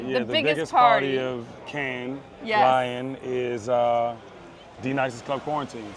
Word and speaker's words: Cannes: The S is silent.